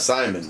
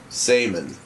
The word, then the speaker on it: Samon: It's not Simon, but it's Samon. Samon. I think that's how they pronounce it, right?